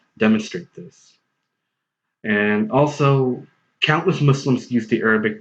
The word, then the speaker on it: Muslim: on top of that every American English Dictionary I've seen adopts the Arabic pronunciation of the word Muslim which is well Muslim as an English pronunciation as well and I like to